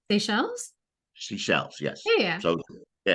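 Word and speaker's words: Seychelles: I've heard I've heard it and then but it's spelled s s y c h l s seash shells seashells yes yeah so yeah it's an archipelago like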